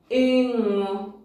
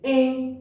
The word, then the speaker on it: ịṅụ: That letter sounds like the ing sound in English, and it is produced here. You must feel the vibration here whenever you're pronouncing that letter. So you say ing.